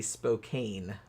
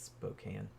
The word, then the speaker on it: Spokane: American um it looks like it should be Spokane but it's not it's Spokane so um so yeah now Melinda Mercer in